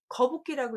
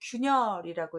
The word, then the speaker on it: 균열: 거북기라고 읽지 않고 균열이라고 읽기 때문에 꼭 알아두셔야 됩니다.